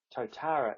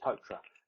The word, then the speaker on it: Totara: in New Zealand um Totara is something else I don't know what that is but it's definitely totra it's kind of try to say it with one syllable now for many of